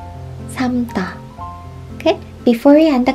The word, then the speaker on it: 삶다: In this case, we just pronounce this without l sound. 삶다. 삶다.